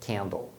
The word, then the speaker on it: candle: E aí você já mata por que cable o A tem som de A e por que candle o A tem som de E.